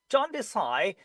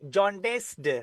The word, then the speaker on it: jaundice: Okay, jaundice. Don't say jaundiced, right? Don't say this d sound at the end because s sound.